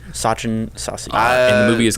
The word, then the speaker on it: Sachin Sasi: Sachin Sasi.